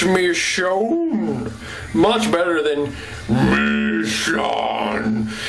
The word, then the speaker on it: Michonne: walking dead and i was writing how to pronounce her name it's me shone much better than me it's me soon soon